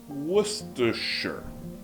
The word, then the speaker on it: Worcestershire: vira Worcestershire.